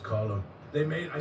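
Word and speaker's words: Colm: Cuz that's the Irish name or Yeah, it's pronounced column.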